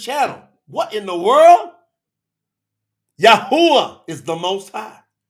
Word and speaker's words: Yahweh: Yahweh is the most high. It's the name above all names. factually proven. Scientifically, factually, historically, religiously, scripturally proven is Yahweh. That's how it's pronounced.